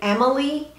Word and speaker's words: Amelie: Now I'm going to take this Sonia G Worker Pro and I'm going to go into the shade Amelie. It's not spelled like Emily, it's Amelie.